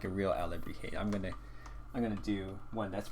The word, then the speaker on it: alebrije: So this is sort of alebrije. It's more like a pattern panda. So I'm just gonna think so. But if we want to make this feel like a real alebrije, I'm gonna do one that's more of a pattern.